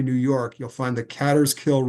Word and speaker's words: Catterskill: Up in the far northern Catskills, this is Greene County, New York, you'll find the Catterskill Rail Trail, some pronounce it Caterskill.